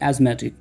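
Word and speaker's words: asthmatic: यहाँ पे TH silent होता है, तो उसको पढ़ा जाता है एज़मा, और आप हो गए एज़मेटिक।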